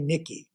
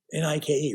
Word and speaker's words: Nike: He called Nike Nicky. He didn't know how to pronounce Nike. I probably made that mistake too. Nike, right?